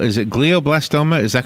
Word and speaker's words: glioblastoma: life senator Kennedy had something called as a glioblastoma is that correct that the pronunciation what is that yes so blahblah storm